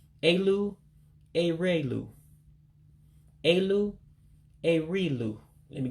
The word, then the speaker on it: elu: And of course, that last word, E-L-U, what looks like E-L-U in English, you drop that E. And that's why you don't pronounce it the way that it looks.